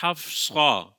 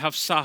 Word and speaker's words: حفصہ: اوقات غلطی کرتے ہیں، اصل تلفظ ہے حفصہ، صاد ہے، لیکن وہ پڑھتے حفصہ حفصہ کر رہے ہوتے ہیں، سین پڑھ رہے ہوتے ہیں، تو یہ تلفظ میں بعض اوقات غلطی ہو جاتی ہے۔ اس کا تلفظ وہی رکھنا چاہیے جو حقیقت میں اس لفظ کا تلفظ ہے۔ صاد کے ساتھ پڑھنا ہے، سین کے ساتھ پڑھنا یہ غلط ہوگا، تو اس چیز کا